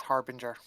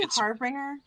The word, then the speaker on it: Harbinger: reminder for future reference I the word is Harbinger har is it is it really yep what the hell did I say it's written harbringer did I say harbringer yeah yes it's written harbringer but it's pronounced